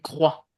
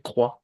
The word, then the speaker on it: croit: La prononciation du verbe croire, il croit au pluriel. Vous vous ne prononcez pas la fin. Oui. Je crois, tu crois, il croit.